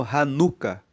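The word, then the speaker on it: Hanukah: E essa festa da dedicação, ela é conhecida como ranuca. Se escreve H a n u k a h r han r hanuca.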